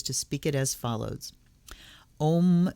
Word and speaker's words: Om: speak it as follows om sounds um om sounds like palm without the p am om